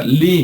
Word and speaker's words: ley: ley, nada más que en inglés se pronuncia Lee, ¿no?